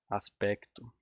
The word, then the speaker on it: aspecto: Aí tem várias duplas grafias, né, que eu estava falando, que os portugueses ainda escrevem fato com C mudo, aspecto, aspecto, e eles não pronunciam isso, a gente não pronuncia.